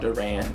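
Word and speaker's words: DUR&: It's his album called Durran. It's a self-titled album, and but it's spelled D-U-R ampersand sign.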